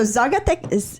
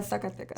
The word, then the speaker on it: Zacatecas: But yeah, so Zacatecas. I'm not saying it correctly. Zacatecas. Yeah, Zacatecas.